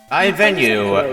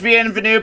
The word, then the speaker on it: Bienvenue: That was a butchering of the pronunciation. I was hoping you were gonna do the Game Grumps quote as Bienvenue Power Bottoms. I was thinking it was Bienvenue, but then I saw the BI at the start, and I'm like, oh, bye. Okay, that's probably how that word's pronounced. So I pivoted away to butchering it.